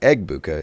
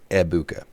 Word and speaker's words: Egbuka: Apparently, the G in Abuka is silent. So anytime you talk about Emeka Abuka, it is not Egbuka. It is just Ebuka.